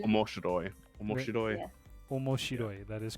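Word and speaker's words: 面白い: What's the first syllable before I read it? Oh, never mind. Got it. Okay, what is it? Omashiru. Omoshiroi. Omoshiroi.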